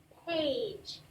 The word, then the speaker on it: page: A with a silent E at the end makes the long A sound. Page.